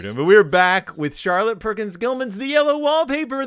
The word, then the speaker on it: Charlotte: ready to talk about Char a lot I don't think that's how you say her name Charlotte Perkins Gill man are